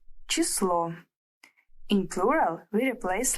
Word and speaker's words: число: Numbers in Russian are very easy, but before we start, let's learn how the word number is pronounced in the Russian language. In singular, we say число.